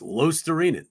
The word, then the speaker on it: Luostarinen: It gets butchered on national TV on a nightly basis. Luostarinen, It's Lostarinen. That's how you pronounce his name.